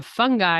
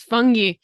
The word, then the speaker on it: fungi: also say fungi but when I traveled to Ireland they have a bay of fungi which is about the same way and so I was like Bae a fun guy and they're like no it's fungi um so so that